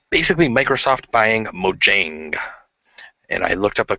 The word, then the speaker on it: Mojang: I guess in Swedish you would say it as Mojang, but we'll just go with the English pronunciation for now.